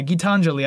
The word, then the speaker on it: Gitanjali: look up how to say this properly uh gitanjali uh which i think he even says you can quietly hear him say it in the song but yeah getanjali guitar yeah gitanjali i even wrote it up like phonetically um